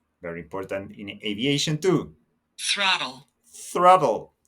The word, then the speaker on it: throttle: important in aviation too throttle throttle your tongue is important here between your teeth throttle throttle throttle throttle